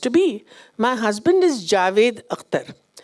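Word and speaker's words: Javed: husband is Javid akar a lot of people call him zavid so they say why do you call him zavid he said poor thing they're trying to pronounce my name correctly so they put us a a where that n none is required so there's a lot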